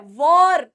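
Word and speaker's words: war: आगे बढ़ते हैं इस वर्ड देशों के बीच में वॉर हो रही है वॉर ठीक है इट इज वॉर ठीक है इट इज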